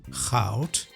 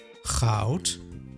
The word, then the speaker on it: goud: The last letter in both words is pronounced as T.